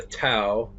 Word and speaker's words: Dao: to talk about the Dao or the Tao. I've heard professors who I took classes on pronounce it with a D, like a soft D, the Dao, and the Unis Mundus.